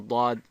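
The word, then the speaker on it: ضاد: So, for example, the Daad is pronounced when you place your tongue flat against the roof of your mouth and then push away from the roof of the mouth with the tongue while vibrating the vocal cords. So it sounds like this. Da, da, da.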